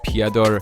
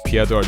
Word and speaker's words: Petr: Oh yeah, his name's Petr, not Peter, by the way. If you want to remember how to say his name, just think of Fedor. Remember Fedor? People used to call him Fedor. With Peter, you gotta call him Petr.